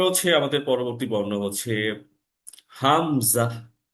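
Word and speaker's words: همزة: শুরু থেকে উচ্চারণটা হবে হামজা এবং হা এর উচ্চারণটা ঠিক একই জায়গা থেকে উচ্চারণটা হয় হামজা হামজা হামজার উচ্চারণ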